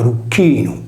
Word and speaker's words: Erycinus: Erux è la contrazione di Rucchinus, pronunciato Rucchinum, vale a dire della croce.